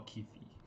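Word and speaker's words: Keefe: So actually, how do you pronounce Kif or Kif or Kifi? I don't know, I think it's Kifi. Is it double E? Then it's Kif. Yeah, it's double E. K-E-E-F-E. Yeah, so it's K-E-E-F-E. Kif.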